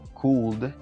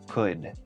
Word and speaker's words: could: así que si dices could, eso es incorrecto. Simplemente pronuncia could. Asegúrate de que tu lengua al final quede pegada al paladar.